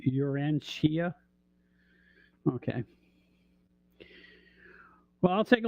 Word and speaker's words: Urantia: I got Urantia. Sometimes the TIA at the end of the word is pronounced Shia.